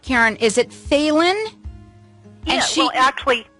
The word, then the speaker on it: Phelan: Is it Phelan? Yeah, well, actually, it's Phelan.